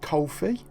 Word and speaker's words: Ko-fi: am reliably formed it's it's pronounced coffee i'll put the address kind of here somewhere coal hyphen fee dot com forward slash